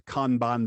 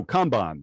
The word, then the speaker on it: kanban: your patience uh so kanban there it is i don't know if there's any chinese speakers out there but the the words are literally khan and bon it's pronounced the same way when you take those